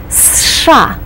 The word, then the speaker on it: США: And you pronounce it as one syllable. You start with a strong S sound, then you do the SH sound, and you complete it with an A. США.